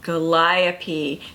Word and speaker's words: Gooliope: This is a short review about Gooliope. Now, a good trick to remember her name is it rhymes with Calliope, and Calliopes are in circuses, so it brings the whole big top feel to it.